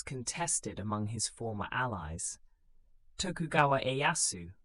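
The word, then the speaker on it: Tokugawa Ieyasu: Tokugawa Ayasu, pronounced Tokuga Yasu, was a patient and calculating daimo.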